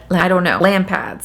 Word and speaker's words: Lampads: She's also associated with the Lampads. Lampads is what I'm gonna say.